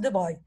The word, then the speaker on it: de Broglie: Bon, ça s'écrit comme je l'ai dit de Broglie, mais on le prononce de Broglie.